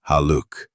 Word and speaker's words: Haluk: Haluk, pronounced Haluk.